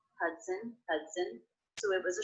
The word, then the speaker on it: Hudson: River the Hudson River did you notice how the second and unstressed syllable of Hudson was pronounced it's written with the letter O but there's the schwa vowel in there as an unstressed syllable it's very fast when